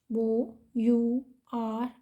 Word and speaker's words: hour: shorthand is overhand h o u r over h a nd hand h is silent here so our hand the